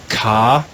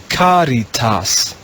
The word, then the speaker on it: caritas: In the green row, the first word is a pretty long one, but we'll just read it 1 syllable at a time. Caritas. Caritas.